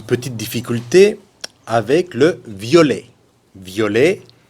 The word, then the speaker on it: violet: Violet, masculin singulier, V-I-O-L-E-T. Masculin pluriel, on ajoute le S, violet. Aucune différence de prononciation.